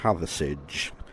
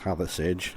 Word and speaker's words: Hathersage: So I'm on my way to Hathersage, as we pronounce it here. It rhymes with garage, not with farage. So it's Hathersage, and it's a lovely town.